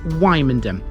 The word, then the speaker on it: Wymondham: we have wyom now be careful how you pronounce that the pronunciation kind of helps in a way because thanks to it you shouldn't be confusing this with another place of a similar name in norfol we will be